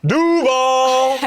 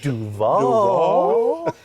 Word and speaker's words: Duval: Ever since Liam Cohen has been getting recommendations on how to pronounce Duval the right way. He went Duval. How would you pronounce it, James? Duval!